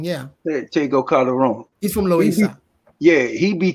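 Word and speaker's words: Tego Calderón: Tego Calderon, yeah. Tego Calderon.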